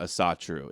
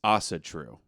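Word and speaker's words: Ásatrú: It's not Asatru, it's Asatru, right?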